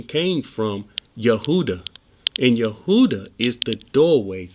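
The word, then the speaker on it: יהודה: Let's listen to how he pronounced this one. Strong's H3063. Yehuda. Yehuda. Yehuda.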